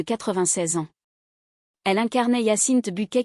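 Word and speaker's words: Bucket: Elle incarnait Yassine Buket qu'elle insistait pour prononcer Bouquet dans la célèbre sitecom britannique qui pignupirance madame est servie en français.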